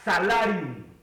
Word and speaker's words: salarium: viene de una palabra en latín que se pronuncia salarium.